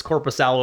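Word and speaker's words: Korpisalo: for goalies and then Jonas Corp pasalo or Jonas corpos Salo if you want to pronounce it properly of the Boston Bruins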